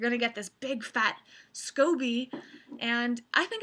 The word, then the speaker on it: SCOBY: and something called the scoby I believe it says scoby it's not Scooby I know that scoby I believe is the correct pronunciation some people call it